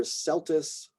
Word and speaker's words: Celtis: So C before E tends to be a soft C, makes more of an S sound.